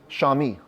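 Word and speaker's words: chamois: these rounded horns but others say it's the shami it's a funny name it's spelled camo CH but it's pronounced shami sham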